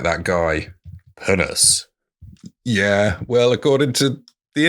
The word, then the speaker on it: pinnace: Ah, I'm going to just double check that it is pronounced like a posh posh person talking about something.